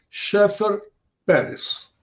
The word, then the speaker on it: Schaeffer Pérez: a nossa querida, vamos ver se eu pronuncio certo o sobrenome dela, que é complicado, Schaeffer Pérez. Olá. Olá, Luiz. Falou bem direitinho o meu nome, Schaeffer, isso mesmo. É alemão.